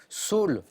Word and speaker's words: Saül: surpris certains le roi saül donc ce n'est pas une faute de prononciation sol en hébreu avec le lui très basse et saül on peut le prononcer sol bien sûr y'a pas